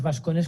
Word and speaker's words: vascones: propias del español, pues decimos vascones como si estuviera escrito con B, aunque esté con V. Pero la pronunciación originaria es muy distinta.